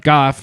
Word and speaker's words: Goff: Jared Goff, 355 Goff. Yeah, it's a hard G.